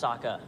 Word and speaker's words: Sokka: My name's Sokka. Rhymes with What?